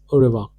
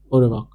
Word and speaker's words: au revoir: Au revoir. This is how we say in pronunciation. Au revoir.